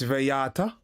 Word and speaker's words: Viata: okay so it's not it's not vala it's viata okay cafe viata can't say I never learned nothing today can't say I never learned nothing today.